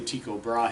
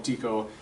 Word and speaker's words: Tycho Brahe: how his name's pronounced I say Tycho Brahe has some say to show brah hey I'll call him Tico he Tico Brian it